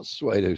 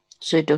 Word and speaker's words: pseudo: reply C just is suedo it's not suedo science pseudo science pseudo science s yeah knew he knew